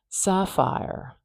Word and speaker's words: sapphire: there now Sapphire fire so it really is just like fire there's a campfire fire that's not bad there okay fire fire and I'll close up my brackets because we don't say this last e here R is the last sound Sapphire Sapphire I'm going to place my primary stress marker which is at the beginning here Sapphire Sapphire that's actually